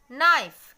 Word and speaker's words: knife: Knife, K-N-I-F-E, knife. Here also, K is silent.